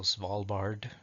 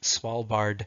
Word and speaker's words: Svalbard: I know it's spelled Svalbard, so Svalbard, I would think.